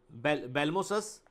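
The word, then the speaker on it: Abelmoschus: भिंडी का होता है बेलमोसस एस्कुलेंटस के, ए को साइलेंट पढ़ते हैं यहाँ पे, बेलमोसस एस्कुलेंटस इज the scientific name of द भिंडी के।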